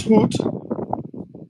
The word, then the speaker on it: goed: It is Goed. So good is pronounced goed.